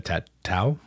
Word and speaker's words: tatau: you were doing the tattoo, well, I can't pronounce it. I'm sorry. The tatau.